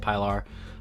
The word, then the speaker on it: Pilar: is my first uh piler piler pillar however the hell you want to pronounce it i pronounce it pylar um but yeah i